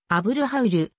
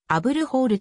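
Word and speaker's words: أبو الهول: の父の意味発音は標準アラビア語であぶるハウルエジプト方言ではアブルホールとなる全長 73.5m 全校 20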